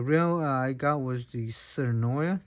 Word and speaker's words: Tsurinoya: I got was the serenoia that's how we pronounce the company serenoia it's the 1000 Jaguar